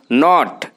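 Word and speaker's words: knot: इसको इंग्लिश बोलते हैं नोट के नॉट यह के साइलेंट वर्ड एंड स्टे गांठ दार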